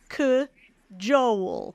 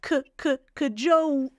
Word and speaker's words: cajole: transcription here if you look up in the dictionary this is what you're going to see you're going to see that c Joel but if you listen really carefully you might hear a little uh uh before that CK Joo right if your ear